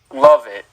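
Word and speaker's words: Lovett: It's pronounced love and Love it.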